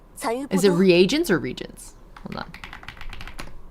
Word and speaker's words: reagents: Is it reagents or regions? Hold on. How do you pronounce it? Reagents.